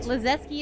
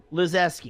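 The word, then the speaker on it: Lizewski: Lazeski is how you pronounce it. Lazeski.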